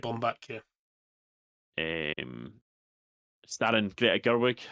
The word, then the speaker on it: Baumbach: Is it Baumbach? Is that how you say his name? Yeah, that's how I'd say it. Bomb back.